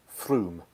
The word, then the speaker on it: Frome: anyone interested I recommend you google shed happens Froome spelt Frome but it's pronounced thank you and that gets you know